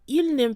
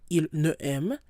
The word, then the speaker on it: il n'aime: So once you see an apostrophe in French, you want to make sure to run the sounds together. You don't pause, il ne aime, it's just going to flow. Il n'aime.